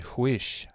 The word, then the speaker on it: Huish: We're actually rescheduled a show with Allison Huish. I think that's how you say it. Huish, I think.